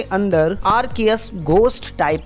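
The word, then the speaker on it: Arceus: तो सुनो मेरी बात इस पमन को आरसीएस नहीं आर्कियस प्रोनाउंस करते हैं आरकेएस के पास टोटल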